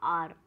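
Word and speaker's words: our: तो जैसे आर हावर ऐसे हम लोग बोलते हैं, हावर नहीं बोला चाहिए, सही जो प्रोनाउंस होता है वो होता है आर आर।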